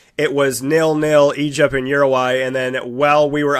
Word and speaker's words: Uruguay: Is it Uruguay? It's funny. It's like if you speak to someone who's Hispanic and from the area, they'll say Uruguay. But I always said Uruguay, so I say both.